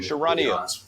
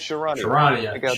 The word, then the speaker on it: Charania: I actually don't know how to pronounce his last name. Charania. Shams Charania. Shams Charania.